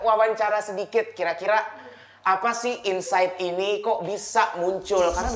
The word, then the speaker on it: Inpsyght: Jadi Insight ini dibacanya Insight ya kayak biasa.